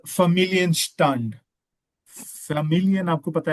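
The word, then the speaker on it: Familienstand: आप मैरिड है अनमैरिड है क्या है आप फमिलियन स्टंड व डन फमिलियन फमिलियन स्टंट या जब भी या जब भी डी एंड पे आएगा तो आपने उसको टी प्रोनाउंस करना है।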